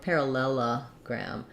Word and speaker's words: parallelogram: with stress on pair but in parallelogram it changes to the level so this this syllable is hard because I have to do the two l's parallel lull would have just an F vowel in between L parallelogram so here we go back to our schwa and then we have the black cat the ab vowel for the past last syllable so try breaking it down going slowly parallelogram parallelogram parallelogram it